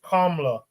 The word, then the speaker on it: Kamala: She made it a point to state that her name is Kamala, not Kamala. But, man, based on how that's spelled and whatnot, people will say Kamala.